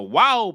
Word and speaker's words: waw: The the wow by itself makes a w sound ww like woman. In modern Hebrew, however, it is pronounced v as in victor.